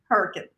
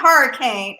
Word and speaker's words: Hurricane: you how to pronounce Hurricane. It's not hurricane, it's hurricane."